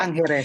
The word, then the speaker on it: Tangere: Tangere sometimes.